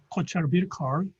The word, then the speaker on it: Caucher Birkar: Well, his name, Caucher Birkar, am I pronounced correctly?